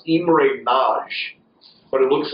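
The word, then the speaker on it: Imre Nagy: in Hungary uh and this name is actually pronounced IM NJ but it looks like IMR Nei uh but there was uh there was movements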